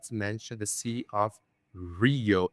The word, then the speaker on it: Rio: I always like to mention the sea of Rio. It's not Rio Janeiro. So it sound it sounds like H actually the way you pronounce it.